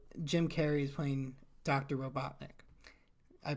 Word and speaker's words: Robotnik: Robotnik. I pronounced that correct. Yes. Okay, Dr. Robotnik.